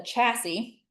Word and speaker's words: chassis: You're going to need to decide what the best host cell or we call it a chassis. Pronounce this word chassis.